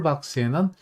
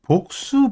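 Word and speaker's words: box: 한번 짚고 넘어갈게 있는데 보통 그 이정기 하시는 분들은 복수 복수 그래요 니까 정확한 영미 면 복자 0b 발음은 박스 인데 일단 그 분들은 그냥 있는 그대로 바로 하셔 가지 복수 그런데 저희들이 좀 배웠으니까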